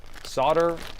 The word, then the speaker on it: solder: Solder is pronounced differently based on the region of the United States. That's right. Solder is a silent L, and then solder is a different way of pronouncing it.